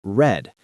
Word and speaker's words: read: Notice read in the past tense is spelled the same, but it sounds like read. Many beginners forget that.